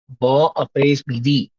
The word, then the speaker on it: bon après-midi: No, in this case, you will pronounce the N. I'll explain अच्छा. why you will do that. In this case, you will pronounce the N. हाँ. So you'll say bon après-midi. Bon Bon up. après-midi. Not Bon bon. up. In this case, you're pronouncing the N, right?